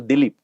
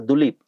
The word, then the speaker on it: Dilip: a sec and then she doesn't know how to say the Indian names right so dilip right she says yeah something like a dulip I said thank you